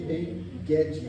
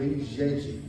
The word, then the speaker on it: En-Gedi: nos lugares seguros de En-Gedi, ou En-Gedi, que no hebraico é Ge a pronúncia, sempre é Ge, tá? Tanto em grego quanto em hebraico, não é Getsemane, é Getsemane, sempre o G é Ge.